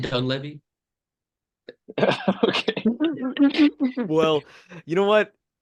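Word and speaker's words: Dunleavy: actually so like dy I feel like I'm saying it wrong dun Ley it's isn't it dun Levy okay well you know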